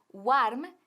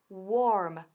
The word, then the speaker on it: warm: Ahora, cuidado con la pronunciación de warm, que no es warm, sino warm, warm, con la cara bien larga, warm.